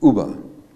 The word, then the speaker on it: Uber: Uber, that's how you pronounce it. It's Uber.